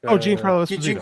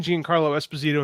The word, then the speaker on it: Giancarlo Esposito: Giancarlo Esposito. Giancarlo. Yeah, that's it. I didn't know how to pronounce it.